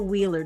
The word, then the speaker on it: Wuehler: radio as we are talking with Reverend Michael Wheeler that's w h I gotta spell this right Michael w-u-e-h-l-e-r it is pronounced wheeler but if you're looking for his